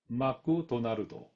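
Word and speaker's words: マクドナルド: And I don't mean to belittle Japanese kana, but most of Japanese people pronounce McDonald's as Maku Donarudo. It's far from McDonald. In my humble opinion, Japanese people are trapped in kana, so they have limitations in transcribing sounds.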